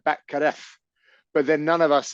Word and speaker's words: Batgarel: that they have so Dana Batgarel is how it's spelled, but the way he says it is entirely different. It's Right. like there's no L. It's like Batkaref.